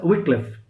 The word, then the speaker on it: Wycliffe: We pronounce this as Wycliffe.